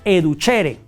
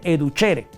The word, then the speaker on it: educere: Educere, nada más que educere se pronuncia educhere. La c e en latín suena como ch. Entonces dice educhere.